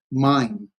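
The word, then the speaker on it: מים: Water is really a diphthong. Mime, just a mime. It's like I don't know how to spell it in English. Mime.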